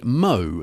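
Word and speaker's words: Mho: So, the first track you heard there was by Mo. That's spelled M H O.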